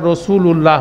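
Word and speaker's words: رسولُ اللهِ: হতে পারবে না আর রসূলুল্লাহ হতে পারবে না ঠিক আছে না সেজন্য আপনি দেখেন আমরা হরকতটা নিয়ে আমরা রসূলুল্লাহ বলে দাঁড়ায় যাই বেসিক্যালি এটার পুরা প্রোনাউন্সিয়েশন হবে রসূলুল্লাহি রসূলুল্লাহি তাহলে এটা কিন্তু একটা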